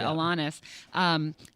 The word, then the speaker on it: Alanis: I'm going to start saying Alanis now because I've been saying Alanis my entire life, but you know her, so I'm assuming that you're saying it right, and I've been saying it wrong. She's not. She's lovely and not picky. But yes, I want to say it how right. she says it, Alanis.